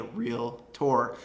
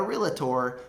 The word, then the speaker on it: Realtor: privilege of being a real tour not a realtor but a real tour that is the correct way to say it number six is going